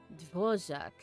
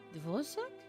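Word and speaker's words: Dvořák: Dvorak. Dvorak? It's a Czech name, apparently.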